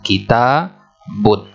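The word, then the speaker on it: كتاب: Kemudian setelah ta kita tambahkan alif. Nah, ini bacanya apa? Kita, panjang. Kemudian tambahkan ba, kita bun. Kemudian tambahkan tanwin karena ada bunyi nun sukun di terakhirnya, ada bunyi n-nya. Kita bun.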